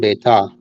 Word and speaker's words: coup d'état: And so you think there's going to be a coup d'état?